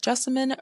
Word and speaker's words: Jessamine: Now, I tend to tell people that Jessamine rhymes with specimen, but with a J.